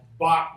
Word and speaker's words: Bac: Bach rhymes with what? Clock? I don't know. Rock. Right. Rock, clock.